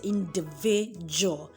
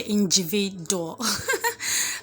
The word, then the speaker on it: individual: We are rather pronounce that second D as J. So you say individual. So you don't say individual.